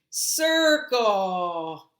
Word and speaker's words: circle: me tell you why because the C sounds like an S at the beginning sir and now it's cold so they're gonna see